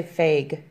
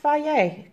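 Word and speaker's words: Fage: what's called fie yay I used to say fake but it says it's pronounced bye yay go figure I didn't know that I picked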